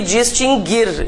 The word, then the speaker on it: distinguir: vimos a acentuação ã esse verbo se pronuncia assim mesmo né extinguir por que que eu estou falando sobre isso porque várias pessoas dizem extinguir É e tem outro que sofre desse mal isso não tem nada a ver com com reforma ortográfica né gente esses dois verbos nunca tiveram trema porque o u nunca foi pronunciado mas Há muitas pessoas